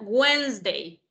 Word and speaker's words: Wednesday: digamos que the weinstein usted debe eliminar la d y la e obviamente escrito si va a ir pero en pronunciación la d en la segunda en la que usted no pronuncia wins de escucha wednesday